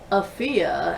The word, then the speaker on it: Afia: So it is Afia, as in rhymes with Sophia, Atakora.